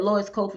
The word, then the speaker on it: Lois Koffi: You said Lois Koffi, and I'm saying to myself, oh my God, I've been saying it wrong the whole time.